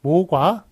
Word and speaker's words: 모과: 목은 이제 나무 목자죠. 그래서 목재 할 때는 목이라고 읽는 게 맞겠습니다만 모과 할 때는 모가로 이렇게 잘못 읽는 것을 맞겠습니다.